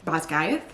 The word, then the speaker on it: Basgiath: Basgiath? Yes, that's how you say it.